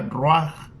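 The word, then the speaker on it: רוח: escucha, el término espíritu viene de una palabra hebrea que se pronuncia ruach.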